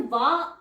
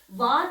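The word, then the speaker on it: vingt: 20 की ठीक है तो ये हो जाता है वा वी आई एन जी टी वा इट्स 20 तो यहां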